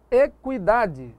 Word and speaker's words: equidade: Equidade, o U é pronunciado, como se tivesse um trema aqui, não é isso?